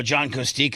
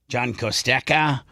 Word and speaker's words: Kostecka: But I'll ask John and text him, how do you want me to do the E as an E or as an E? John Kostecka or John Kostecka?